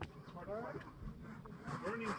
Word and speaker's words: Boerne: Burning's how you pronounce it. They say it rhymes with journey.